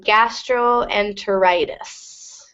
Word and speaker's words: gastroenteritis: common, like meningitis, and gastroenteritis. What's the pronunciation? Good. So with this one, it's meningitis. When you see the ending itis, the first I will be a long I. So meningitis. And gastroenteritis.